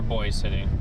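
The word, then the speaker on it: Boys City: up some snow or boy city. I think they Is it Boise or Boys? It's Boy City. Boy. Yeah. So, I've been saying it wrong the whole time.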